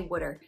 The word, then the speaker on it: water: And yes, I'm from South Jersey, around the Philadelphia area, so I say wooder. W-O-O-D-E-R is how it's pronounced.